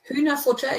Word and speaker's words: Hühnerfutter: Pronunciation okay? Hühnerfutter, yeah.